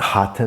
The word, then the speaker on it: Hatha: you about the product the correct pronunciation with your tongue kind of curled up so I want to tell you what hata means because you see